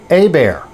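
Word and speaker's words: Hébert: Yeah, looks like Herbert, doesn't it? But I want to tell you, there are parts of this country, especially down in Louisiana, where this is pronounced A-bear.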